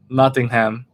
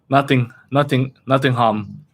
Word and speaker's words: Nottingham: Say it like a British person. Nottingham. Most Americans pronounce it ham. Nottingham. Like that. Nottingham.